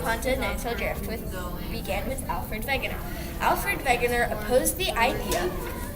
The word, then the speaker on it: Wegener: Alfred Wegener's name is actually pronounced Alfred Wegener because he's German, and he is the scientist who first thought of continental drift.